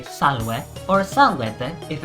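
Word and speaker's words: salve: say hello to someone in latin you'd say salwe or sanguette if it's several people goodbye is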